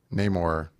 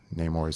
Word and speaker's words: Namor: I like how much Namor. That is how you say his name, right? Namor, yeah.